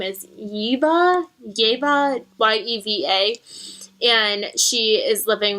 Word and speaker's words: Yeva: Her name is Yeva, Y-E-V-A.